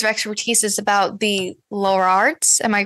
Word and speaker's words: Lollards: I've read that one of your areas of expertise is about the Lollards. Am I pronouncing that correctly? Lollards.